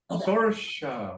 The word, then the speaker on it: Saoirse: Sorsha. Wow. Gersha. Sorsha. What nationality is that? It's the Gaelic word for freedom. Gaelic. Oh wow, that's really neat. Gaelic. Saoirse is Sorsha.